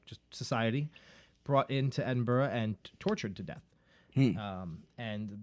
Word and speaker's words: Edinburgh: on the outskirts of Edinburgh Scotland and Edinburgh and bura right that's how they say it that's how they say that I think they say the same burg over there Edinburgh no Edinburgh right